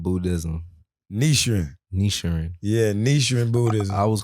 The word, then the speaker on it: Nichiren: All right, so I want to make sure I pronounce it right. Yeah. Nichiren Buddhism. Nichiren.